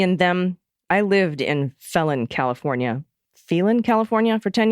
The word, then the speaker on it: Phelan: People in town would argue about the pronunciation. A local joke was that the reason the high school was named Serrano, neither Phelan High or Phelan High would have had a great impression. P.S. I call it Phelan, since that was how our titular senator pronounces it.